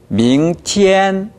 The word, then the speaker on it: 明天: 네, 티엔 할 때 트트 이 파열 상태가 강하게 되질 않았어요. 밍티엔 해보세요.